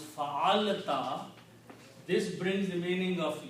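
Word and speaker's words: فعلتَ: combine these 3 and put a ta at the end and pronounce them fa'alta, fa'alta means you did.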